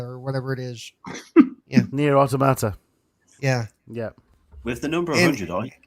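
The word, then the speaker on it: NieR: Automata: And that weird one with the weird name that I can't pronounce, Nier Automatica or whatever it is. Nier Automata.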